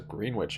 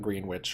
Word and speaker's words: Greenwich: oh they have this Greenwich in here g-r-e-e-n-w-i-c-h Greenwich I have two e's terms of the Bed Bath and Beyond French not grin not green witch or Greenwich a Greenwich all